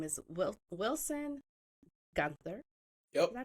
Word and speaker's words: Guenther: I have a fellow adoptee, and his name is Wilson Guenther. Yep. Did I pronounce that right?